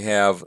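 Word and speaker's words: ὁ: masculine s-- so we have the nominative singular is ha notice the rough breathing mark ha and the accusative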